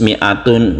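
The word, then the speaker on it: مائة: ini yaitu seperti ini tapi cara membacanya meme-nya ini tidak dibaca panjang dia itu tetap pendek ya karena memang pendek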